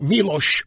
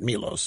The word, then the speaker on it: Milos: In Davos, you're not Davos, Davos, like Milos Forman. It's not Milos, it's Milos, the nation.